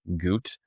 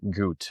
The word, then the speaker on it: Gute: You can just search up the real Goot. I'm a real person. So, the real and then Goot. Gout is spelled gu.